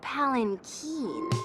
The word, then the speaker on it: palanquin: It's pronounced Palanquin.